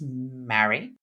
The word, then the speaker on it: Marie: My aunt Marie, pronounced Mary, who was also my godmother, passed away as a result of a car accident in 20 2005.